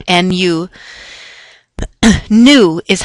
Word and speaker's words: nu: a Greek symbol it's an N Nu you new is how you pronounce that it's more or less a squiggly